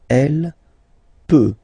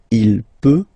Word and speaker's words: peut: Then il, elle peut. So you will put T at the end, you don't pronounce it. Il peut, elle peut.